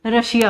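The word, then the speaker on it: Russia: रशिया, आई ए है यहाँ पर तो इसका प्रोनाउंसिएशन रशिया होगा।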